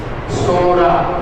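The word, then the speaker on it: Psora: मदम पहला मदम स सोरा सोरा पड़े कौन सा प साइलेंट सोरा क्या है सोरा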